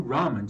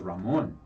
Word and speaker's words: ramen: So And don't forget, if you want to win a dinner to Q Ramen, just put hashtag Q Ramen in comments.